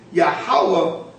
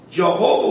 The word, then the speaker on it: Yahweh: That this seems to be the true Hebrew pronunciation of the divine essential name, Yahweh. Jehovah will appear more obvious from the sound they seem to have given their characters.